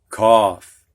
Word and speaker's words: cough: And at least one ough word ending sounds like off. And this word is what, students? Cough.